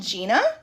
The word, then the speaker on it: Gienah: It's called Gienah. Um it's spelled g i e n a h and it means wing.